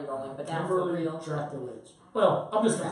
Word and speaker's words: Drakulich: Drakulich. Drakulich. Like Dracula has an itch. Drakulich.